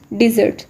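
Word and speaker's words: dessert: जाती है, सो इट्स डिज़र्ट. Again इस वर्ड के अंदर 2 syllables हैं और स्ट्रेस लास्ट सिलेबल पे है, यानी कि सेकंड सिलेबल.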